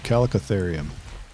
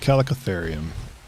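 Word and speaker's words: Chalicotherium: is it I don't know is it Google pronunciation is that right that's what they said calicotherium so that's what I'm gonna go I'm gonna go with calicotherium trying to think if there's anything that's a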